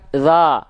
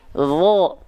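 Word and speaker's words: ظ: Huruf dho kan nggak dilafalkan za, tapi dho.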